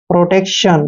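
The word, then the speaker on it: protection: Next word देखिए PRO, इसको पढ़ते हैं हम प्रो, क्या पढ़ते हैं, प्रो। और TEC का उच्चारण टेक करते हैं, यानी कि प्रोटेक्ट, और TION को हम शन पढ़ते हैं, प्रोटेक्शन।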